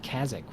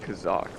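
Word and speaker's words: Kazzak: thought I called it Kazakh which I think now that I think about it is a uh vanilla World boss we called it Kazakh like rhymes with a shock on the brain I don't know what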